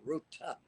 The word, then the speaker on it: Ruta: The name Ruta, which you pronounce beautifully, I must say, Ruta with a T.